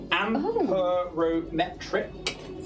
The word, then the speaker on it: amperometric: You find a Neurolash Amperometric.